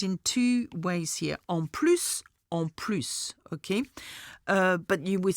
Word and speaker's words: plus: And in that case, I need to pronounce the S sound of plus, okay? Plus tends to be no more, but plus tends to add on to something, okay?